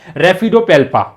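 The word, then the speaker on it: Raphidopalpa: तो ये क्या है आपका रेड, ये PHF जो है उच्चारण में आएगा और ये आपका हो जाएगा रेफिडोपेल्पा।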